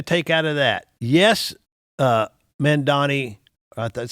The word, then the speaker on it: Mamdani: Yes, mamdani, that's how you say his name?